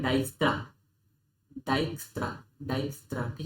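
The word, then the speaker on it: Dijkstra: ये होता है डाइक्स्ट्रा, डाइक्स्ट्रा, डाइक्स्ट्रा। ठीक है, प्रोनाउंसिएशन जरूरी है, कहीं बोलोगे तो ऐसा अजीब सा लगता है।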